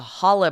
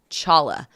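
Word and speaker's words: challah: then I remember the Hala bread I first pronounced Chala because it had a CH on it and so then I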